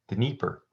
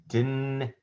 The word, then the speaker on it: Dnieper: Dnieper. So, Dnieper. Just as it sounds. Wow, look at that. It was exactly how it looked.